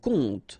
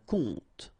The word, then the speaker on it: conte: And the first one is un compte. Un compte. And here you will have the translation. Un conte. So exactly the same pronunciation, but then of course the meaning is different.